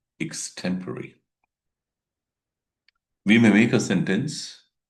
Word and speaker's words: extempore: Today's topic is extemporary versus normal public speaking.